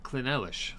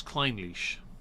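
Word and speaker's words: Clynelish: l i s h which spells clish to us no it spells Klein leash and we're like no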